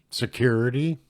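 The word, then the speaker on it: sécurité: of three oral repetitions of security pronounced as the French word security sent before the call or Tay I guess so you say that three times security security security this is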